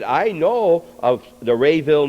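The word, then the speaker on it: Raville: And David, I thought he pronounced it Rainville, but it's Rayville. It's Rayville, yeah. R-A? R-A-V-I-L-L-E.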